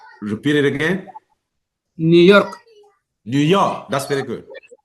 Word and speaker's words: New York: So we say New York. New York, not New York. New New York. York, New New York, York. Good. New York. You see that Okay. even the simple name of the city, you have to also pay attention to the stress patterns, right? New York. Okay. If you say New York, people will not understand what you're talking about.